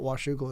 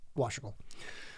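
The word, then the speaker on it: Washougal: goes what I said it's not wasle it's washle just one it's one syllable um I think we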